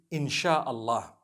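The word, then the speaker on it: Insya Allah: ya, they pronounce it, they pronounce the s y the way we pronounce sh. So they can write it how they want for as long as when people read it, they read it inshallah because a transliteration means nothing.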